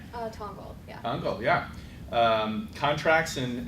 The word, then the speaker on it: Tongal: So we're going to start with Sam, who is from, I want to make sure I pronounce Tongal right? Tongal, yeah.